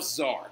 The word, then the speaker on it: czar: he centralizes his government and he names himself zard right and a czar is a russian king and why do we think it's spelled c z a r well i'll give you a hint that's right caesar right so that is